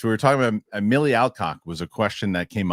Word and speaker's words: Alcock: She didn't even say whatever she said, and I said no, it's Alcock, and she goes Alcott, and I go cock, and she goes cock, and that lives that clip lives on forever.